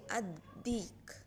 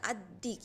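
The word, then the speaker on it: الديك: And also in the next word you can see ad-dik. Ad-dik. So because of the shadda, that that like W alphabet, the ad-dik, you don't say the lam. The lam is silent.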